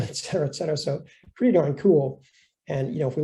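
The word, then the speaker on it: CeWL: your target that and there are tools like cool it's pronounced cool to actually create these word lists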